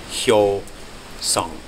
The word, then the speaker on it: Hyosung: It's pronounced Hyosung. Hyosung. That's how it's pronounced.